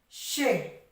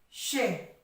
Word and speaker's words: che: Es por eso que yo quiero que vosotros sepáis que la unión de la C con la H se pronuncia she. La C con la H, she.